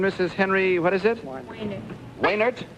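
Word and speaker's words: Wejnert: Waynert. Waynert? W-E... Was it W-E-J-N-E-R-T? You don't pronounce the J, is that it?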